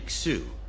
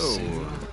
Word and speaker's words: Xu: systems using these No, it's backup just Zoo, parts.